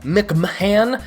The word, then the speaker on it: McMahon: behind it like Jim Jim McMahon Mick Mahan his name is his last name is spelt weird Jim I am just